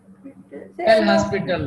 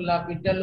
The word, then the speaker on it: L'Hospital: पढ़ लिया है ना, एल हॉस्पिटल रूल। ओके, तो उसमें क्या करते थे एल हॉस्पिटल रूल में? एल हॉस्पिटल रूल, एल इसमें एच ओ एस साइलेंट होता है, इसको लापिटल रूल बोलते हैं।